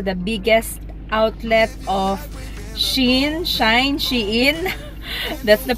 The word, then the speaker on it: Shein: dito nai Tingan natin kung anong meron sa Shine shine daw ang pronunciation non guys Sinearch namin siya sa Google